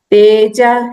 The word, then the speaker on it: तेजः: तेजः क्षमा धृतिः शौचम, एक्चुअली ये जब क्ष फॉलो होता है बाद में तब ये विसर्ग फुल्ली प्रोनाउंस किया जाता है।